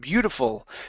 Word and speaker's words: beautiful: head her head good let's practice the l sound at the end of beautiful make sure your tongue is touching the top of your mouth and you are not moving your lips beautiful beautiful okay almost